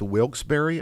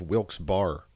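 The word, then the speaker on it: Wilkes-Barre: find the dolls after searching SE so it's pronounced wilbury I always thought it was why did I thought it was pronounced wilk's bar several stores or maybe that's some maybe that's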